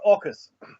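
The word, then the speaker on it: AUKUS: u k us but it's pronounced orcas there's a greek god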